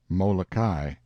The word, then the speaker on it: Molokai: of this group of islands oahu and molokai pronounced and molokai on the morning of the 18th and soon